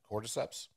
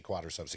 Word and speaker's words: cordyceps: like actually you know how do you say it it's no no no cordyceps cordyceps there it is yeah I did not want to say quadriceps again that are the most